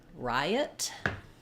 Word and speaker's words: riot: me switch it out the word Riot is two syllables stressed on the first syllable letter I says the I diphthong so we have Rye and then letter O is going to be the unstressed schwa so it sounds like